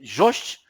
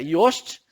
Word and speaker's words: Jost: Um amigo fez para mim, alguns amigos conhecem essa pessoa, algumas pessoas chamam de Jost, mas a pronúncia é Yost, Marcelo Yost.